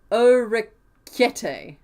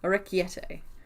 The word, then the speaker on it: orecchiette: Okay, it's pronounced Orecchiette. Orecchiette? Orecchiette.